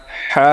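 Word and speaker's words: حاء: যেমন বরকিত জ আছে না বরকিত জ এর মত জিম পরেরটা দেখেন হা বলতে হলে কিন্তু আমাদের মুখের ভিতর থেকে বাতাস বের হবে।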